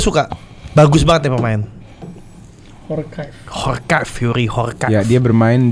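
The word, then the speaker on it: Djorkaeff: Jorkaev. Horkaev bahasanya. The Jor. Jadi gini. Iya. DJ dibacanya tuh Khor.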